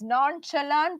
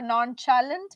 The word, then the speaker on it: nonchalant: The word here is nonchalant or nonchalant. Both pronunciations are okay.